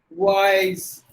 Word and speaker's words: wise: some look at that there's a word wise if you say with the yes sound it is wrong you have to give it a z sound like this white wise that's how we have